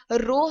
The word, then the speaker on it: rho: लिखा भी जाता है, लेकिन इसको प्रोनाउंसिएशन के हवाले से हमने यहाँ पर बता दिया कि रो इसको बोला जाता है, इसको कहा जाता है, और ग्रीक का वर्ड है ये, और इस तरह से